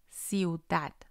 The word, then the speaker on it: ciudad: For example, ciudad. Ciudad. We have IU together, so they're going to stay with the same syllable. And it's also a quick pronunciation.